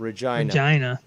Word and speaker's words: Regina: Regina. That's just weird to fucking say. That's just the way it's pronounced.